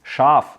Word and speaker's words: Schaaf: We have no idea of how you pronounce that word. Yes, of course, it's Schaaf.